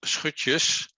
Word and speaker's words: Schutjes: with pronouncing my surname in dutch it's called switches but usually i use